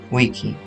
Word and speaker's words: vici: videre y el vincere, que su pronunciación relativamente literal sería vedi, vidi, vici, ya que en latín